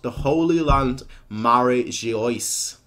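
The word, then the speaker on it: Mary Geoise: called the Holy Land Mary she iced not Mary Jo ah Mary Joyce which I guess would be the pronunciation for it but it's not really the way it's written yeah there's no way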